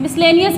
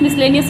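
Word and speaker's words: miscellaneous: Next मिसलेनियस बोलते हैं इसको, मिसलेनियस, मिसलेनियस, मिसलेनियस वगैरह बोला जाता है, लेकिन इसकी जो सही प्रोनाउंसिएशन है वो है मिसलेनियस, मिसलेनियस, मिसलेनियस।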